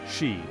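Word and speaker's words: sídhe: There existed a race of supernatural beings known as the Cid, pronounced she, often described as fairies or elves, who dwelt in mounds, hills, and other liminal places.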